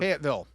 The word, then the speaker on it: Fayetteville: Fayette uh Fayette uh uh How do you pronounce that? Fayetteville.